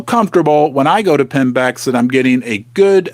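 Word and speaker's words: PIMBX: Pinex. I love to spell it.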